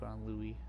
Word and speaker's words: Louis: put it but uh Louie with you even though it says Louis it's pronounced Louie due to the fact